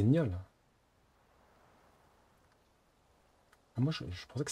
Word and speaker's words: gnôle: On dit gnôle. 焼きたてパンに香辛料。 Non, il faut prononcer le gnier comme dans le mot gagner. 頼まれたものは揃ってるわね。 Hein? Non, du coup c'est gnôle. Ah, moi je pensais que c'était gnoll.